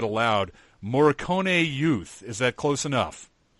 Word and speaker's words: Morricone: The YouTube pronunciation was actually much fancier. There were some rolling R's in there, and it was nice, but I wasn't going to try and pull that off.